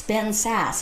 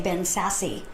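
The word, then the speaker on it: Ben Sasse: own fellow congressmen's names, which is Ben Sass, and he was saying Ben Sassy.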